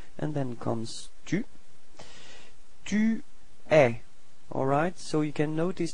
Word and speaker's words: eux: So masculine form is e. Alright, final X is not pronounced.